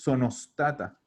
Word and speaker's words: sono stata: En la pronunciación, juntar las palabras. Como que fuera una sola. Entonces tú dices sonostata. Sono stata. Y ahí automáticamente no le damos como la oportunidad a nuestro cerebro de poner esa E, que muchas veces la decimos sin darnos cuenta. ¿Ya? Entonces decimos directamente sonostata, sonostato, como una sola palabra.